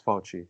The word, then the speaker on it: Fauci: I looked up the Italian pronunciation, and it's Fauci.